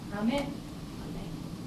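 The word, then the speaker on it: 雨: In Japanese, we don't use stress accent, but pitch accent. Ame and ame, these are spelled the same way. Candy is ame, and rain is ame. I didn't change the force or stress.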